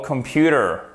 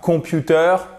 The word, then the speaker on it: computer: get r of all computer ok c'est pas computer mais c'est computer computer vous avez votre accent tonique qui est là vous savez l'accent tonique il est matérialisé par l'apostrophe dans les signes phonétique il est donc ici